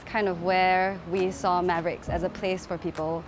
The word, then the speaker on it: MAVRX: mavrx is pronounced mavericks and that is kind of actually a play